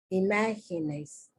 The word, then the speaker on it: imágenes: It's in the second syllable. Imágenes.